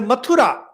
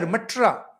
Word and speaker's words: Mathura: When it comes to Hindu word, say Mathura, Mathura, we just imagine Mathura. These British people would pronounce it as M-U-T-T-R, Matra. And if you read in English, it becomes Mutra.